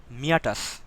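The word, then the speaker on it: meatus: কর্ণকুহর বা এটাকে অনেকে বলে হচ্ছে বহি অডিটরি মিয়াটাস। আপনাদের বই মিটাস লেখা আছে, উচ্চারণটা মিটাস না, মিয়াটাস সাধারণত, ঠিক আছে?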